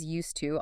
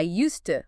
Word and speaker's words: used to: In natural flowing speech, that add sound in used to often gets softened or almost disappears blending with the t. So it sounds more likeusta. I used to live there.